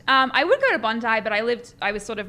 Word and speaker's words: Bondi: so that's why I know how to properly pronounce it. I'm sorry. It's okay. Yeah, Bondi, that's correct. I would go to Bondi, but I was sort of more like North